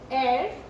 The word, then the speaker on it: heir: Then we have the words like where H is silent. Like honest, honor, honorable, heir.